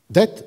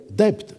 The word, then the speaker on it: debt: dire « doubt », qui vous prononce « dette » dette, alors qu'il devrait dire debt, D-E-B-T, dit-il, et pas D-E-T.